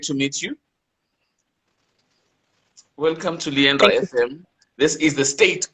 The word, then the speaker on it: Emunah: Man, it's Emunah. Is it Emunah? It's Emunah. Emunah.